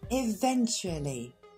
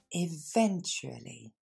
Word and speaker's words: eventually: 8e mot, eventually. Et là, on s'arrête sur la prononciation. Ça devrait vous rappeler un petit peu actually. Eventually. Encore une fois.